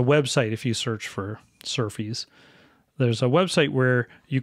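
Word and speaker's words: SRFI: scheme requests for implementation SF Sr fi um s they pronounce surfies this is the mechanism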